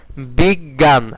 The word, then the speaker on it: বিজ্ঞান: তারপরে জ ঠিক আছে বিজ্ঞান আগে কি আগে নি উচ্চারণ করতেছি না আগে জ উচ্চারণ করতেছি উচ্চারণটা গ এর মত অনেকটা কিন্তু আগে জ উচ্চারণ